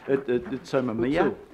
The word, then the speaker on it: Utsunomiya: Yeah, and the other one was, I've got to get the pronunciation correctly on, Utsunomiya.